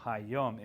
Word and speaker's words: Hayom: So Hayom is the day or today. Today. Hayom. Okay, so the one on top, you pronounced it like Hayam, like Y-U-M, rather than the O-O-M. Hayam. Hayom. Yeah. Not Hayum, it's Hayam.